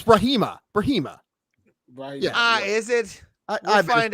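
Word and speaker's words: Brahimaj: Ramiz Brahijma. Brahijma. No, it's Brahima.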